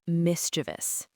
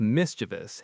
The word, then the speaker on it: mischievous: The correct pronunciation of mischievous has three syllables, just three. And the stress is on the very first syllable.